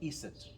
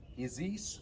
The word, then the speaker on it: Iset: she is the goddess her name they pronounce it iset but we said is or isis or isis in english but let's go with